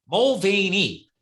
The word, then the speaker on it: Mulvaney: I was like, wait a minute, Mulvaney, 3 syllables.